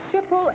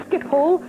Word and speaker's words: Schiphol: Which city is served by Schiphol Airport? Frank? Amsterdam. Yes, it is Amsterdam. I did mispronounce that. It's Schiphol.